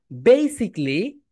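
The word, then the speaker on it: basically: তাহলে my dear student সবাই বল বেসিকলি বেসিকলি।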